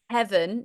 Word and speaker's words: heaven: And let's make sure that V, let's see if we can make that nice and rich as well.